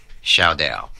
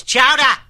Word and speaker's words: chowder: What did you call it? Say it loud enough so everyone can hear. Come on, say it. Shaudel. Shaudel. Shaudel. It's chowder. Say it right.